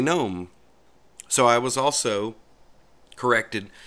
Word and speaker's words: GNOME: gets on my nerves I call it gnome I've called it gnome since it came out in 1999 okay so it's gnome you want to call